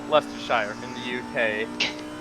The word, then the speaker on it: Leicestershire: dave jones where is he from he is from now i'm going to butcher the name lestershire he says it pronounced yeah leicestershire in the uk how